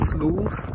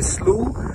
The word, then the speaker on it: slough: video so today uh you might have heard people talk about sleuth uh mostly people from the midwest and you might be wondering what is so slow is spelled s-l-o-u-g-h and uh in north america a slu is a shallow body